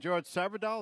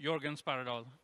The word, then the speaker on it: Jörgen Sparredal: And George Sparredal, is that how you pronounce it? Yeah, almost. Jörgen Sparredal.